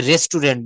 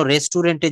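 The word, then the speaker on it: restaurant: বলি this is এ রেস্টুরেন্ট বা I want to বাইম going রেস্টুরেন্ট for eating. আমি খাওয়ার জন্য রেস্টুরেন্টে যাচ্ছি। প্লিজ কেউ রেস্টুরেন্ট বলবেন না। এটা রাইট প্রোনাউন্সিয়েশন সঠিক প্রোনান্সিয়েশন হবে রেস্টুরেন্ট। রেস্টুরন্ট।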